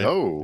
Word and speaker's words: Zoe: And that's my understanding how you spell or you pronounce that. It's Zoe, right? Zoe.